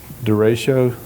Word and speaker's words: derecho: I've never had the earthquake to deal with, but from a hurricane, tornadoes, and ice storms and derecho, did I say it right? Yeah.